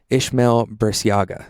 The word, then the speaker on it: Ismael Burciaga: I'm here at Squares Conference with the creator of Squares Conference and the creator of circles and lines conferences, Ishmamail Biaga.